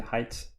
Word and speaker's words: height: maybe I finally learned how to pronounce the height not the hate anymore only the height now all right so